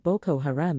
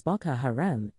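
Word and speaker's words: Boko Haram: He mispronounced Boo Haram as Baka Haram and made prejudice comments about religious conflicts that drew criticism from Muslim advocacy groups.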